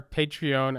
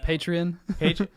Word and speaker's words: Patreon: going to mess this up, Sebastian, again, our Patreon account. Did I pronounce it correctly? No. Patreon.